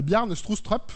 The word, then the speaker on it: Bjarne Stroustrup: En bas à gauche, vous voyez quelqu'un qui s'appelle Bjarne Stroustrup, c'est comme ça que ça se prononce.